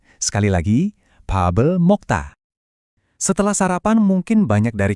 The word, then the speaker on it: 밥을 먹다: Ungkapan yang umum untuk makan adalah 밥을 먹다. Dengerin lagi ya, 밥을 먹다. Sekali lagi, 밥을 먹다.